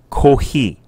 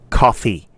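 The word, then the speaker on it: コーヒー: you choose coffee you must say kohi that's the way to say it in japanese don't say coffee okay say kohi and to be more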